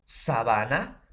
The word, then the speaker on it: sabana: La pronunciación, sábana, sabana. Entonces, profesor, la pronunciación tampoco no va a ser igual, va a tener ligera diferencia por el nivel de acento.